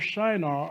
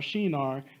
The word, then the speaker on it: Shinar: The Tower of Babel was in the plain of Shinar, or Shinar, depending on how you want to pronounce that, also located in Iraq.